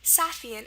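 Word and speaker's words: сафьян: So here you can see it's the A sound, the short sound, so it's pronounced A, Safian, and you're going to spell it with an A.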